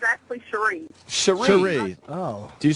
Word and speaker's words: Cherise: Oh, it's actually Cherie. Cherie. Oh. Do you spell that shit all weird?